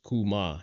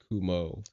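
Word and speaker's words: 熊: Experts Also, Japanese for bear is kuma, not kumo.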